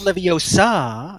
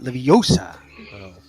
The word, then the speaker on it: Leviosa: sorry it's a reqtest Leviosa not Livi OSA say it wrong then